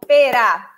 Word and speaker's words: pera: And the sound is closed. So, e. Pera. Pera, okay? Not pera, pera. This sign on top of this letter right here, you see? It makes the sound closed. Pera, okay?